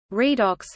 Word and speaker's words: redox: Redox, short for reduction oxidation reaction, pronunciation redox or redox, is a chemical reaction in which the oxidation states of atoms are changed.